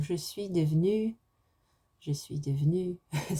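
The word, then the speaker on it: devenue: like this, and then you'd add an E on the end in the written form, because you wouldn't hear that E in the spoken form. Je suis devenu.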